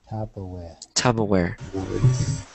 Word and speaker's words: Tupperware: when you're talking about this plastic thing, it's pronounced tuba or Tubaware. Sorry, Tubaware, uh-huh. Tupperware.